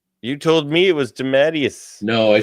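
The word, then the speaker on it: DeMatteis: Uh, it's pronounced Dimmitus. You told me it was Damatius. No, I said I pronounced it wrong my whole life. It's Dematus.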